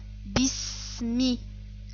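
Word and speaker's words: بِسْمِ: On ne prononce pas le son E, mais on prononce Bi. Bi. Le son I. Bis. Bismi.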